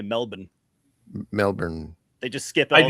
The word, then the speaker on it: Melbourne: consistently what Americans annoy Australians when they say Melbourne, because we say Melbourne or Melbourne. Melbourne. Because we want to pronounce all the letters in there, every one of them.